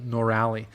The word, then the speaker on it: Norali: She says, emphasis on the last syllable, Norali.